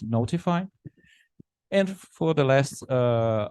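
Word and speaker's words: ntfy: tool called and TFI which I think it's pronounced notify and for the last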